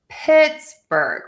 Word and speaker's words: Pittsburgh: So, let's start with Pittsburgh. We're going to stress syllable number one.